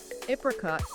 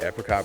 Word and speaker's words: apricot: Apricot caramel. Yeah, apricot versus apricot.